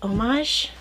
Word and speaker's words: homage: Isn't it pronounced homage? You don't pronounce the H.